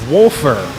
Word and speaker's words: Wolfer: And folks, just getting word, it is Wolfer, not Wafer.